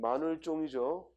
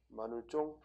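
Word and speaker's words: 마늘종: 그 다음 마늘쫑이죠. 발음 주의해. 발음은 쫑이야. 마늘쫑. 근데 표기는 종.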